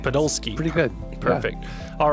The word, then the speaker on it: Podolsky: Is that how you pronounce it first? Yeah, Podolsky. Podolsky.